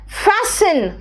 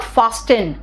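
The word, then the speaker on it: fasten: है नेक्स्ट देखो तो फैसन इट इज नॉट फास्टिन इट इज नॉट फान इट इज फैसन हेस्टन नहीं बेटा इट्स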